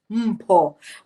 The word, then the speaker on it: Mpho: Actually, that's how the name is pronounced, Mpho. But ever since I've come to Germany, I've had to change the pronunciation of my name.